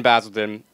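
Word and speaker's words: Basildon: they're from jumped in basilon basilon basil basil I'm saying basil because I'm American I'm sorry but it is basilon that's the way they pronounce it oh well whatever we're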